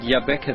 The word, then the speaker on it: Jabbeke: Africa that's that's correct and I see you pronounce it Yaba the way we were told to pronounce it it's not yabek it's y it this is John root yeah